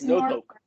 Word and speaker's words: Norfolk: It's Norfolk. Norfolk. My parents both grew up there. They call it Norfolk. Norfolk, something like that. I know it's not Norfolk. There's no R. You don't pronounce the R.